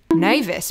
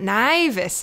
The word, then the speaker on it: nævis: theorize that this is welcoming Nevis back not naivas um actually it's pronounced as in Korean back to the real